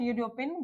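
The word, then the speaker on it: European: यूरोपियन में जो हमारा साउंड हो रहा है कैसा हो रहा है वो? यू रो पियन ये हो रहा है यू से स्टार्ट।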